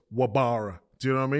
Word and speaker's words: Wabara: So there's a player called Reece Rabara. Reece? It's pronounced Rabara, but it's spelt with a W. Okay. So it's Wabara.